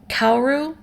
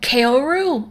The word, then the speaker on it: Kaoru: kids on the slope dub does have everybody pronouncing cowardly correctly and like okay i get people maybe saying kauru um just because the rl thing might be difficult if you're not accustomed to the language but kaoru ah psychic damage kaori you want to draw